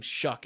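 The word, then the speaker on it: Shough: I hate that his last name Shuck and it's spelled show.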